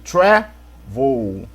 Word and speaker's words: travel: Por exemplo, aqui, travel. Qual é a sílaba mais forte? O tra ou voo? Né? O tra. Então, por isso que não dobrou.